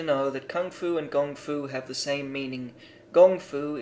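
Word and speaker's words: gōngfu: words at that time it was translated as Kung Fu and the term became popular actually it should be gongfu not that it matters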